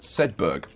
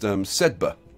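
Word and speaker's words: Sedbergh: So over here, Shepshed Peacehaven Sedberg, which apparently is all the pronunciation Nazis are out. Apparently pronounced Sedba. Is it Sedba? Yeah, Sedba. Apparently the GH is silent.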